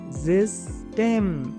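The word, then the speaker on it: System: एस को आप क्या पढ़ोगे? जिस्टेम, जिस्टेम, हल्का सा जिस्टेम।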